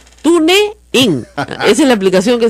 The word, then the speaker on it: TuneIn: TuneIn. Mira, así no se dice, se llama TuneIn. Pero para que usted entienda en castellano así, TuneIn.